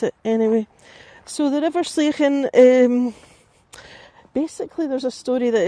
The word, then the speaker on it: Sligachan: Now, I'm going to show you the sign for the hotel just quickly, because I'm saying Sligachan, but you'll be sounding that and thinking, what is she saying?